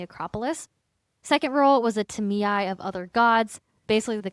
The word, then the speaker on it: Tamiae: At the center of Athenian sacred finance were the Tamiae, also known as the treasurers. And by the way, Tamiae is spelled Tamiai, and there were different levels to the Tamiae.